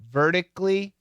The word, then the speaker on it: vertically: No, vertically. Get rid of the syllable. Vertically, and horizontally. Now we keep the syllable. So in this case, vertically, this was canceled. But here, we kept it.